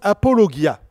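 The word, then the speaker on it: ἀπολογία: mot grec que vous allez reconnaître qui se prononce apologia qui a donné apologie l'apologie c'est la défense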